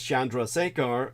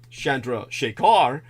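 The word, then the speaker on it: Chandrasekhar: know the Indian origin names Shandra sear are or Shandra shakar depending on Regional semantics really quite literally means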